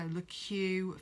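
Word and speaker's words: Le Keux: It's L-E and then a separate word, K-E-U-X. So LeQ Vintage Salons.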